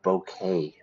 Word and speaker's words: bouquet: the person you love a bouquet bouquet we don't pronounce the tea bouquet of flowers okay